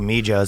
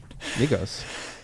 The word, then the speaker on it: Migos: That's the new Mijos song. How do you say it? Migos? Mijos? Migos.